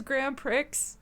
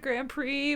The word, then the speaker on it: Grand Prix: I keep wanting to say it as Grand Prix instead of Grand Prix because there's an X at the end.